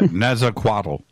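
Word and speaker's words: Nezahualcóyotl: Yeah, Netzaquatl. Thank you. I'm always a little insecure at my pronunciation, but he was known to have mysterious experience of the unknown and the unknowable.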